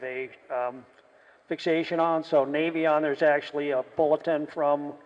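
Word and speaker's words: Navion: a bit of a um fixation on so Navy on there's actually a bulletin from North American specifying that the correct pronunciation is navon a lot of people say navon well that's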